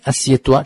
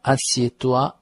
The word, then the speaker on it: assieds-toi: 这样表示引起对方的注意。Lis cet article，看一看这篇文章吧，读一下这篇文章吧。Mais assieds-toi, assieds-toi 它的动词不定式是什么呢？是 s'asseoir, s'asseoir。但是 assieds-toi 这样的命令式呢特别常见，因为是请对方坐下。Mais assieds-toi，注意发音哦，assieds-toi, assieds-toi。接着有一个 avant，什么叫做 avant 呢？指的是先如何如何。Mais assieds-toi avant, mais assieds-toi avant。但是你先坐下吧，坐下来看。难道是有什么特别大的噩耗吗？看了以后会站不稳吗？